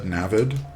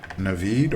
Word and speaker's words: Navid: You know what's funny is I said Navid because that's how a lot of people say it, but that's not actually the way you pronounce it. I don't know why I said it that way. But it is Navid or Navid.